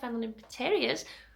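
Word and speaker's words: Fenlon Interiors: So if you're not already following me at fenloninteriors, this is, you can tell I'm not well, I've got brain like fog.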